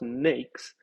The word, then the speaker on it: NAICS: at n a i c s and it's pronounced nakes and it's the North American industry classification system